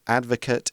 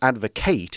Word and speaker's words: advocate: We can also use the word advocate or advocate, it's pronounced a bit differently, as a verb.